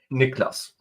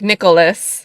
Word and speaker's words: Niklas: I mean, it's Niklas. But I think people want to add the O, like Nicholas, instead of it being Niklas, like just 2 syllables.